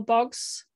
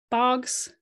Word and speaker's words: Boggs: the u.s scholar carl boggs i say his name in a very british way i should say boggs probably um he wrote these